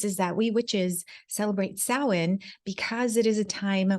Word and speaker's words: Samhain: briefly so it is spelled s-a-m-h-a-i-n but it's pronounced Salin and it is the it's a harvest celebration